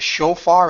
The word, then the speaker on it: shofar: I'm going to pronounce it shofar.